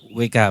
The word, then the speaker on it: WK: WK, Wika, WEKA atau apa Mas bacanya? WK biasanya. WK. Ya, Apa itu WK Group Mas?